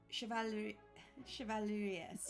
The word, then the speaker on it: Chevalier: chevaliers?